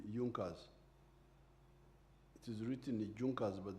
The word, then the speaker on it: Junker: There was there was a group in Prussia called Junas. It is written Junkers but they pronounce it as Junkers.